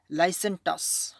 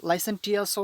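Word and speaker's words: licentious: পর্ব 1 নম্বর রয়েছে হচ্ছে লাইসেন্টাস, অথবা এটাকে আমরা লাইসেন্টিয়াসও উচ্চারণ করতে পারি।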